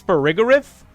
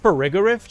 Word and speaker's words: Farigiraf: I think it's Farigiraf. Is it Farigiraf, chat? The other one I pronounce is Girafarig.